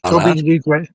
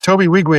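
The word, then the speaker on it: Tobi Nwigwe: Toby Wigwe. Toby Wigwe is how you say it, but he's a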